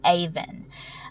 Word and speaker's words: Aven: name for you this one is the name Aven I just thought this one was so pretty